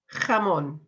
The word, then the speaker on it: jamón: So, first of all, jamón. Jamón. So we've got that jota sound at the beginning there.